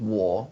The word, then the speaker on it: war: as you can see we write war with three letters w a and r but when we pronounce it there are only two sounds or the r in